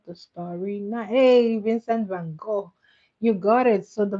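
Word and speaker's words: Van Gogh: Hey, Vincent Van Go, you got it. So, the Van Go is spelled G O G H.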